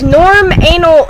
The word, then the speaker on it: Norm anal: And is norm anal a thing? Norm anal, it's actually, I say it like normal, because every time I